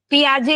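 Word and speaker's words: Piaget: पियाजे नहीं पियाजे दिख रहा है लेकिन पियाजे पढ़ते हैं उसको स्पेलिंग भले वैसी है हां जी बिल्कुल पियाजे ही पढ़ते हैं इसको मान लीजिए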